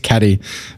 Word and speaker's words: Katy: fan of Katy Perry because it's how you spell my name but it's pronounced caty but everyone always confused and call me Katy ah sad and I